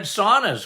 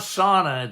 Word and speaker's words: sauna: Sorry, how do you say sono? It's not sauna, it's sauna, isn't it? You say it right.